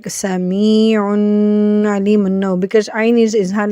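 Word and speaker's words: سميعٌ عليمٌ: Here we do not do the gunna. We are supposed not to do the gunna here. We say it like with clarity, without any gunna.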